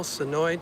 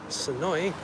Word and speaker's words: Senoia: Welcome in to beautiful Senoia, Georgia. It is a busy day here. Nice Saturday down here. We're just south of the Atlanta airport in Senoia. It's spelled Senoia, but it's really pronounced Senoia. No, And this was the